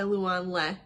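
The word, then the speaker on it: Loan Le: A pho love story by Luan Le. Pretty sure I'm saying that right because I looked at her author pronunciation guide on her page. I love it when people do that.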